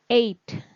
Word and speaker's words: ate: Selanjutnya, kata yang pengucapannya mirip dengan train, a, itu ada kata ate. Ya, ate. Itu ada a ya.